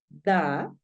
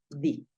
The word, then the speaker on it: the: voy a comentar que este d lo puedes pronunciar así lo puedes pronunciar da De hecho yo tiendo a pronunciarlo más da y en algunos casos obligatorios lo vas a pronunciar di listo en algunos casos obligatorios debes pronunciarlo di Esta es la forma indicada de pronunciar el artículo entonces tú puedes decir